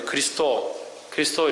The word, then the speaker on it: 그리스도: 크리스토스를 이제 지금 발음은 이제 그리스도 이렇게 발음하죠.